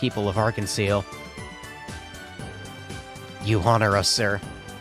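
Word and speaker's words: Arc-en-Ciel: witnessing The Rebirth of Arkansas the public performance was surely to be something to look forward to it's pronounced like the French word for rainbow I I I don't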